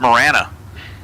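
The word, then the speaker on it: Marana: Marina or Mirana it Morana Matt Matt all right I had it totally wrong it's not marinaa it's not Mirana it's Morana I mean come on it's like M A R A N A so right there we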